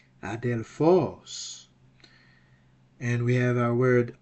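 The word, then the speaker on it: ἀδελφός: Where is the accent? The accent is on the ultima. The breathing mark is on alpha. And it's a smooth breathing mark, so there will be no H, vocal H sound. It's gonna be Adelphos.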